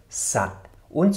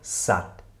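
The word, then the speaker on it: สัตว์: Das heißt, dieses letzte W, W wird nicht ausgesprochen. Wir lesen diesen Begriff also genauso, als ob der graue Buchstabe gar nicht dastehen würde. Wir lesen also Sat, Sat, Sat und nicht etwa Satu, Satu oder sowas.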